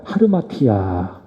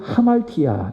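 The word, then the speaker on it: ἁμαρτία: 하르마티아. 하르마티아, 좀 발음하기가 어렵죠? 하말티아 또는 하르마티아, 이것을 헬라어로 죄라고 이야기하는데, 이것은 어떤 의미인가 하면 관역을 벗어나다, 그것이 바로 하말티아, 하르마티아라고 하는 의미입니다.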